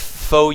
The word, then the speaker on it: fOu: them and win uh we also have Fu which I is I think it's how you do uh that's how you pronounce this at least that's how I heard artosis pronounced that a couple years ago for our Utopia is